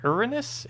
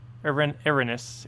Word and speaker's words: Erinyes: Erinyes? Erinyes. Also, am I pronouncing that even remotely correct?